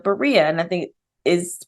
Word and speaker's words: Berea: they went to the city of Berea and I think it